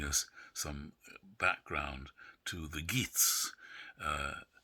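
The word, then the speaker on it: Geat: some background to the geets uh nobody i think quite knows how that's pronounced g-e-a-t but uh he's a geet um beowulf and there's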